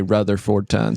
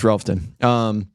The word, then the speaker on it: Rutherfordton: If you're from there, anybody who's from there doesn't say Rutherfordton. So you know somebody's not from there if that's how they say it. It's Relfton. So just kind of grew